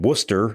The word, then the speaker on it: Worcester: They were playing in Worcester, Mass. That is the correct pronunciation of it for those of you who may have forgotten.